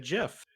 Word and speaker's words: GIF: if you like graphic no graphic is a hard g but the creator did not use the hard g from graphic to create the name he said jiff so that's what it